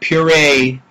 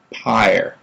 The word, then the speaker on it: Pire: then I say no it's like fire but with a p higher at least that's